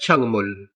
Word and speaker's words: 작물: छकमुल, ये लफ्ज प्रोनाउंस होता है छंगमुल। ये कोरियन लैंग्वेज का प्रोनाउंसिएशन रूल है।